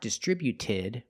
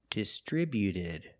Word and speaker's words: distributed: When we add e d, the t at the end is between vowels. So, it's a fast d, not distributed, but distributed. Distributed. Put the stress on the second syllable only.